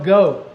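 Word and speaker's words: geaux: yeah and of course that's spelled g-e-a-u-x that's how you spell go g-e-a-u-x when you're saying go Tigers or go wolves uh so anyway all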